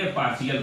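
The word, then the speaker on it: partial: तो इसमें पार्शियल ना पढ़ के हम क्या कहेंगे? पार्शियल पढ़ेंगे। क्या पढ़ेंगे? पार्शियल पढ़ेंगे इसको। इसका प्रोनाउंसिएशन सा के रूप में करेंगे।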